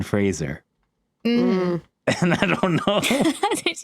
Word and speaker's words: Fraser: can think of is Brendan Frasier when it's Brendan Fraser and I don't know